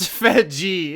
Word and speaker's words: Fedje: Andrew Fedje, conduit of it's pronounced Fedji itself.